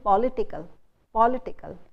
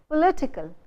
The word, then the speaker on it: political: So we normally we hear people saying political. It's incorrect, because the syllable just before the suffix "ical" should get the stress. So you should say political. Pol becomes O, and the stress is on it. Political. You don't say political, you say political. The stresses shift from pol to it.